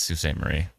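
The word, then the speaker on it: Sault Ste. Marie: written I know it's Su St Marie it just it's spelled Salt St Marie but I know it's Sue yes I know that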